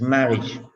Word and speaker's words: marriage: It's marriage. marriage, marriage, marriage, Marriage. Marriage. Ridge. Ridge. Like RIDGE. RIDGE. This is the pronunciation you have to use. Ridge. Ridge. Ridge. This pronunciation you have to make.